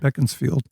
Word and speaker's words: Beaconsfield: It's spelled like Beaconsfield, but it's pronounced Beaconsfield.